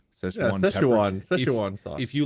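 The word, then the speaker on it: Szechuan: food yeah uh I don't know how you pronounce it but it's like s-z-e-c-h-u-a-n Sichuan Sichuan sauce if you like chew on the actual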